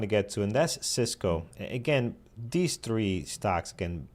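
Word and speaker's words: Sysco: Cisco, just to be clear, this is Cisco, the network equipment company, not Cisco, the food services company, which is spelled differently, although pronounced the same.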